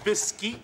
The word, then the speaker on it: Biscuit: It's pronounced Bisky.